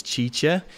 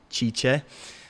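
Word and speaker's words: Cice: Her name is Chicha. She's going to be answering your questions. So you can go and say what's up to her. Her name is spelled C-I-C-E, Chicha.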